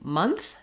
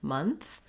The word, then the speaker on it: month: when we get to month this is a little bit more challenging because we have that at the end month and letter o says vowel schwa so i'll rewrite that